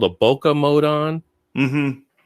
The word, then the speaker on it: bokeh: turn what's called a bokeh mode on mm-hmm about i think it can be pronounced bouquet mode right right i don't know